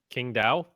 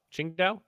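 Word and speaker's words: Qingdao: Um, King Dao. Chin Dao.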